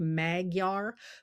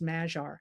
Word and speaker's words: Magyar: And Magyar is his last name. It looks like Magyar, but it's pronounced Magyar.